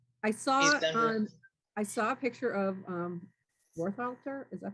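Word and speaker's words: Worthalter: I saw a picture of Warthalter, is that how you pronounce his name?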